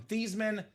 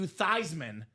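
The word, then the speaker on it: Theismann: University of Notre Dame PR staff said, "Hey Joe Theman, let's change the pronunciation of your last name from Theman to Thyisman so it could be Thyman for the Heisman."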